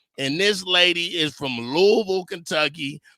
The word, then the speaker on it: Louisville: And this lady is from Louisville, Kentucky. They don't say Louisville. They pronounce it Louisville, Kentucky, born and raised.